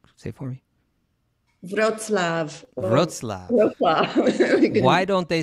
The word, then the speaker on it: Wrocław: Wrocław. Why don't they spell it that way? I don't know. No. Wrocław, Poland.